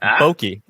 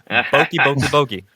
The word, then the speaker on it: Boyke: Now, sorry, Boyke. Boyke. The Y is silent.